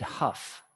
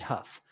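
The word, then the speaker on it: Hough: an american instructor named david huff and it's spelt rough with an h david huff fantastic book motorcycle experience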